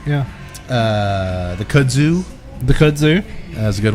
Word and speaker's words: kudzu: I said it right. Yes, you did. You said it like a Southerner. I was calling it Kudzo for the longest time. This Cujo is ridiculous. I thought Robert was very nice, not to correct you when you would say, "Hey, do you have that Kudzo?" He knew if he just kept giving me enough moonshine, eventually I'd say it right. And he's a smart man.